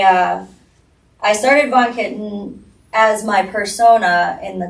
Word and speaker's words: VonKittin: of Von Kitten. Did I Did I pronounce that correct?